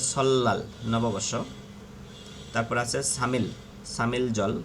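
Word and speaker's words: 설날: রিয়লের পরে নিয়ন আসলে লয়াল উচ্চারণ হবে সল্লাল, নববর্ষ।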